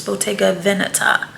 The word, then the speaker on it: Bottega Veneta: somewhere above 400 and fun fact i learned that it's not pronounceable take a it's botega veneta see so i like